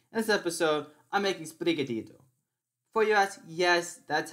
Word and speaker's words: Sprigatito: pronunciation you're gonna get this pokemon reminds me of the song despacito because they sound very similar as brigatito is very close to